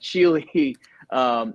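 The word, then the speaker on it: Schiele: way is spelled s-c-h-i-e-l-e i said it like it was smith or something but chili is my last name that's how you spell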